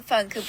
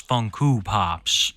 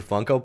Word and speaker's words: Funko: a hundred Funko Pops that she pronounces funku pops the more you no